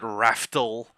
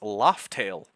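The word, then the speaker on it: Laugh Tale: Because I I have called I have called it Raftal R AF Tel for the for the longest time. Apparently, I am wrong. And the canonical way to spell it is Laught Tail. L A U G H space T A L E, which is weird because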